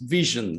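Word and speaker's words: VSHN: do you pronounce it it's pronounced vision like division hence the eye in the logo we are the devops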